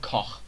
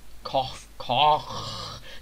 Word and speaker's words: Koch: And it's not Heckler and Koch, it's Heckler and Koch. Koch.